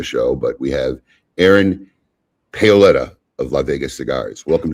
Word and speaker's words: Paoletta: And it's Paoletta in the US, Paoletta if you're over in Italy. Paoletta.